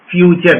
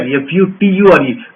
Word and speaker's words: future: Pronunciation is, phonetic says it is ture, but we call it as char. Future, F-U-T-U-R-E. We don't say future, we say future, right?